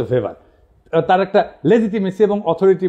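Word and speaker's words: Max Weber: থাকে কার্যকর থাকে না আরেকজন দার্শনিক আছে ম্যাক্স ভেভার এটা ওয়েভার বলে অনেকে এটা উচ্চারণ আসলে ভেভার তার একটা লেজিটিমেসি এবং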